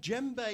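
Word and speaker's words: djembe: so like last week i have my wonderful gem bae here uh just to recap this is a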